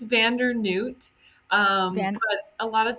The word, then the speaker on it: Vander Neut: It's Vander Noot.